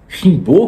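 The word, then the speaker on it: Rimbaud: E como estudou francês, ele estudou autores franceses, entre eles rimbow ou se você ler como em francês, Rimbô, que até o clube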